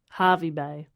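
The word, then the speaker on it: Hervey Bay: Harvey Bay. Oh, is it with an E and it's pronounced Harvey?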